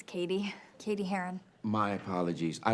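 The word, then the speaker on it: Cady: film her name is caddy caddy har where are you caddy that's me it's pronounced like Katie my apologies I have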